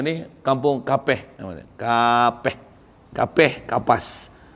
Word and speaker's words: Kapeh: Kapas. Kapeh. Sana pronunciation dia Kapeh, kampung Kapeh.